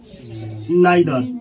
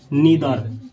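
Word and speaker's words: neither: पहले जान लीजिए लोग, आइदर और नाइदर, इसको ऐसे पढ़ा जाता है, आइदर नाइदर, अच्छा है ईदर नीदर, दोनों प्रोनाउंसिएशन सही है। इसको पढ़ा जाता है आइदर, ईदर, नाइदर, नीदर, दोनों सही है।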